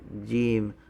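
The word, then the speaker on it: ج: the parentheses and so you pronounce it just like the english j okay and then the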